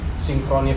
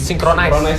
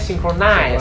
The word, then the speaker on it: Synchronize: Ada beberapa kayak kemarin gue ambil contoh Synchrony Fest ya. Betul. Itu yang 2000 Synchronize Fest ya. Itu 2020. Pronunciation-nya synchronize. Synchronize Fest itu 2020.